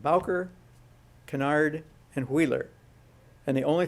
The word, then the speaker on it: Kennard: Kennard. In Kennard, they pronounced his name Kennard, apparently, but his name was Kennard.